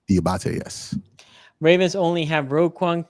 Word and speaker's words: Diabate: Is that how you pronounce his last name? Diabate, yes.